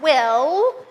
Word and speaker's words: will: We have to keep our tongue up at the top of our mouth.